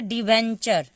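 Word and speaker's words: debenture: ठीक है, उसके बाद है डिवेंचर, डिवेंचर, डी को ड पढ़ते हैं, ई को यहाँ पे छोटी का मात्रा होगा, बी को ब, ई यहाँ पे ए का मात्रा हो जाएगा, एन आधा न बन जाएगा, और TURE जब एक साथ होता है तो वो एक ही साथ उसको चर हम पढ़ते हैं।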